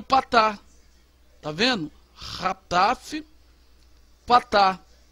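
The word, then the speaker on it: חטף פתח: Rataf Patar. É um A reduzido. Você vai pronunciá-lo com som de A. Tá vendo? Bem rápido. A.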